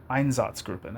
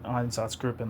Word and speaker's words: Einsatzgruppen: Like an Einsatzgruppen, I think it's how you say it, like an Einsatzgruppen, like attack, where they